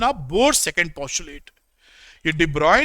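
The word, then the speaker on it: de Broglie: board second position IT देबराव ने spelling ये लिखी है लेकिन पढ़ने डिब्बा है तो डिब्रॉय ने ये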